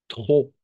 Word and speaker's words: trop: Le P à la fin est muet. Trop.